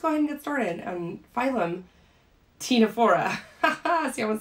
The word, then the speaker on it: Ctenophora: we're starting out with tinafora ah see i'm getting ahead of myself sorry we're starting out with tinafora and just like the cnidarians that we talked about the sea is silent okay so these are